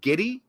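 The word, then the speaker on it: Giddey: basketball player name yeah what was it Josh giddy that's how you pronounce his name yeah it's g d g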